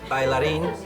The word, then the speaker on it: bailarín: Bailarín. If you speak Spanish or Thai, you'd say bailarín.